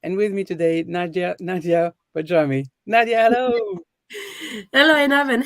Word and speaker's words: Barjami: My name is Einav Avni from Untangled Healing, and with me today, Nadija Barjami. Nadia, hello. Hello, Enav, and hello, everybody, and well done on pronouncing my surname correctly.